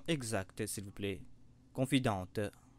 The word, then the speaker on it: confidente: et s'il vous plaît confidente c'est un terme français et l'on prononce la confidente donc les côtes sont